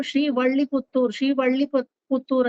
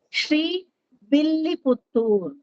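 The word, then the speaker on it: Srivilliputtur: ಶ್ರೀವಿಲ್ಲಿಪುತ್ತೂರ್ ಅಂತಾನೆ ಹೇಳ್ಬೇಕು. ಕೆಲವರು ಶ್ರೀವಳ್ಳಿಪುತ್ತೂರ್ ಅಂತಾರೆ. That is exactly wrong. ಕೆಲವರು ತಮಿಳ್ ಮಾಡ್ಬೇಕದನ್ನ ಅಂತ ತಿರುವಲ್ಲಿಪುತ್ತೂರ್ ಅಂತಾರೆ. That is also wrong. It has to be pronounced exactly Shri Villiputtur.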